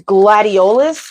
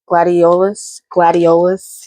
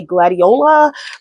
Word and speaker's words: gladiolus: But what I have today is I have these gladiolus. That's how I pronounce it. Gladiolus. Yes, that's what I say. I think I've heard people say gladiola, but I say gladiolus.